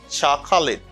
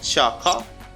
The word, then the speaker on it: chocolate: chocolate chocolate chocolate okay you don't pronounce this syllable chaka you just say chuck chuck chuck or chuck chuck or chuck okay depends on you chuck lit chalk lid chocolate say chocolate the chocolate you should say chocolate the chocolate the